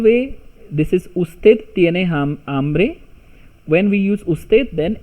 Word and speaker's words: hambre: So tú tienes, hungry is hambre, h is silent, hambre.